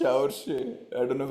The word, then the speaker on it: Saoirse: Saoirse Ronan. Saoirse Ronan is correct. This is Saoirse Congrats on Ronan. the pronunciation as well, Dada.